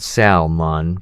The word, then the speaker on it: salmon: would love the grilled salmon, please." You pronounced the L in salmon.